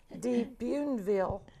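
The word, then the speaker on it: Bienville: Okay, what's Jean-Baptiste, how you pronounce his last name? Jean-Baptiste Lemoyne Sierre de Buneville.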